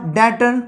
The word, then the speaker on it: debtor: तो जैसे कि DOUBT, डाउट, हम लोग इसको डाउट पढ़ते हैं क्या, डाउट, बी साइलेंट है यहाँ पे। DEBT, डैट, DEBTOR, डैटर, कर्जदार।